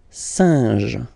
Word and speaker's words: singe: And then you get this combination, EN, so nasal as well, it will go in your nose, saint, saint, singe, singe, un singe, okay?